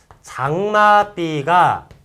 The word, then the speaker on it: 장맛비: 장마비가 발음이 이제 장마, 요게 이제 발음이 삐라고 발음이 되죠. 자, 비읍이 예사소리가, 이 비읍이라는 예사소리가 거듭났죠. 요거를 이제 뭐라고 합니까? 된소리 된다라고 해요. 된소리가 났습니다.